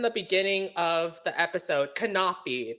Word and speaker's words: Canapi: beginning of the episode cannot be that's how you say my last name oh yes i'm saying